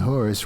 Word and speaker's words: Horus: And Horus rhymes with Taurus.